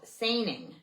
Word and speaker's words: saining: The kelps carried out a very similar practice called sing. That's spelled s a i n i n g. Sing which is the burning of herbal smoke with